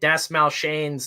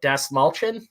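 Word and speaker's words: Dastmalchian: i found out uh david das mal shane's name is not pronounced that way it's like uh des mulchin uh which yeah uh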